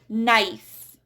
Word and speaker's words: knife: And for the silent K, we do not pronounce K when it's followed by N. So we have knife, knee, knowledge.